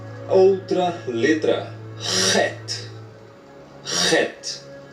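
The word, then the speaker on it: ח: E o het vai ter som de ha na pronúncia do pálego hebraico aqui em cima. Ó. Ha é gutural, é com a garganta.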